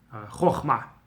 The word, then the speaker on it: Chochma: Kamatz Katan is for sure O sound, and everybody pronounces it the same way. Chochma.